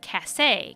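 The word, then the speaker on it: Kasé: As written in the comic, his name has an accent on the E that changes the pronunciation to something like Kase, kind of like June and Junet.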